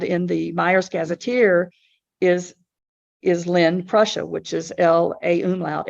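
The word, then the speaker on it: Lähn: But the original town name for that that I found in the Myers Gazetteer is Len, Prussia, which is L-A umlaut H-N, Prussia. So it's spelled differently, pronounced the same.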